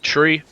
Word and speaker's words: three: are said like so three it said like the thing that grows out of the ground with branches so three is said like tree five is said like